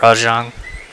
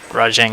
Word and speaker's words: Rajang: yeah it's so funny hearing them call it rajon they make a reference to rajang in the movie and they call him a rajon because that's how apparently it's pronounced but i love how